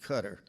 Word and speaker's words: Qatar: Qatar near Saudi Arabia Bobby pronounced it cutter he had already made